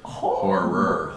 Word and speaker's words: horror: awesome art of horror i always got to hit that last syllable horror or you know dude even